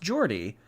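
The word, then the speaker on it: Geordie: is from Newcastle which makes him a Jordy pronounced Jordy have a splendiferous pudding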